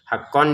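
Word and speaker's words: حَقًّا: Untuk haqqonnya ditekan ya, haqqon. Haqqon di sini karena bertemu ain maka dibaca dengan jelas.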